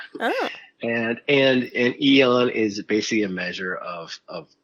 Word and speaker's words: Aeon: It's Aeon, not Aeon. Let's put this to bed. Right. Is the A silent? According to Webster's dictionary, right? It's the A is silent. Oh. And Aeon is basically a measure